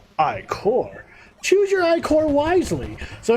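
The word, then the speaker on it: Ichor: fill it with magical iCore that's pronounced Ike or choose your iCore wisely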